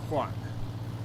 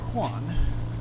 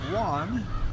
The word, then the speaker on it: Juan: But the right way is Juan, like a H-U-A-N.